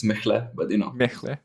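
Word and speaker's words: Mehle: Well, Mele, or how you pronounce it. It's Mechle, but you know.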